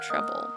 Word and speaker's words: treble: Note, rhythm, scale, chord, and treble. Okay, that makes sense. Treble has a silent E at the end.